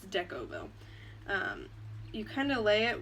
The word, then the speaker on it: Decovil: you put down the deck oval I always say it wrong it's deco bow you kind of lay